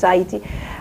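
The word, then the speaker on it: Haïti: to what is now heti is that how you pronounce it heti what you when it's in French it's hati uh uh which at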